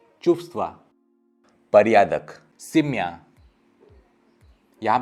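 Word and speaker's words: чувства: यहाँ पे आप व कभी भी होल प्रोनाउंस नहीं कर पाएंगे, तो सिर्फ एक हवा निकलेगा, चुप्stva।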